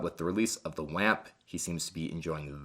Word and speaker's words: OAMP: to the 29 pedals WAMP, which is how I believe you're supposed to pronounce it, or OAMP, as a lot of other people pronounce it as well, but I believe it's WAMP.